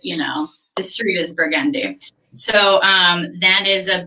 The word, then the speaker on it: Burgundy: purple people who aren't from here and who pronounce it burgundy the proper way for this product to be pronounced if you're in new orleans is burgundy yes some people call the color burgundy but